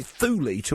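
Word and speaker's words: Thule: We also get the very latest on that new horizon's fly past of ultim but apparently thy rhyme with Julie which takes some of the kind of drama away from it.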